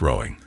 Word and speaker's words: Roding: Roding was sometimes pronounced Rowing, a name going back to Anglo-Saxon times when the river was known as Froda.